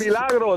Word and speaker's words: El Milagro: El Milagro, that's exactly how you say it.